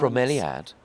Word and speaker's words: bromeliad: A bromeliad.